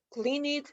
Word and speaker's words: cleaned: Cleaned, cleaned, cleaned, cleaned, ¿cómo no? Cuando tengan sonido nuestras letras, los vamos a pronunciar como D.